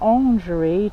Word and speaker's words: Orangerie: La Orangerie de l'Aniron. I probably said it wrong. Lingerie. It sounds like lingerie. La Orangerie de l'Aniron. Orangerie, yes.